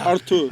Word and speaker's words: Arthur: Abel Ruiz, who was And they've obviously got previously Arthur, who of played 12 Braga. minutes for us. Artur.